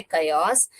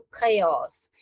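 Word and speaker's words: chaos: कयोस पढ़ते हैं इसको इसका प्रोनाउंसिएशन यहां पर आपके बुक में ओ एस दिया है कयोस मगर actual pronunciation अ ए डब्ल्यू को अ प्रोनाउंस करते हैं तो कयोस इसको ऐसा प्रोनाउंसिएशन करते हैं।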